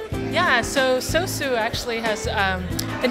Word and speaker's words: SOSU: the name yeah so sosu actually has um the name means sauce in Japanese how do you pronounce this s sosu it's sosu with a dash across the O Okay um and we